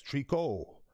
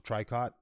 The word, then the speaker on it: tricot: this here big time name of the ban is trico i would have pronounced the tricot thank you my gal